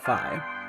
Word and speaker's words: phi: like the like the not fee but Phi not like the Zelda